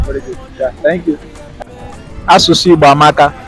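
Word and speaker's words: Asụsụ Igbo amaka: Asusu Igbo amaka. Asusu Mambaka. No. Asusu Igbo amaka. Asusu Muwabaka. Asusu Igbo amaka.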